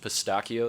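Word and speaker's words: pistacchio: Or you could have cappuccino, or you could have pistachio, which I'm told is pronounced pistachio there.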